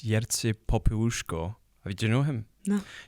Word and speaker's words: Jerzy Popiełuszko: I'm probably going to mispronounce his name. Yeah. But I think it's Jerzy Popiełuszko.